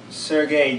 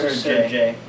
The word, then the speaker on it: Sergei: See, ballet wouldn't have a name if it wasn't for Sergei Diaghilev or Sergei. Either pronunciation would work. He was a cool guy. He was like, you can call me either or Sergei.